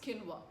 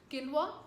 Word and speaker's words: quinoa: And one very popular such tiny little seed is quinoa. Quinoa, pronounced in one way and spelled in another, is full of nutrition.